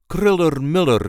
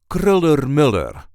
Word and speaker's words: Kröller-Müller: which technically is incorrect there is a light emphasis on the first syllable of the second word kriller Miller K Mur kriller Miller at kriller Miller Museum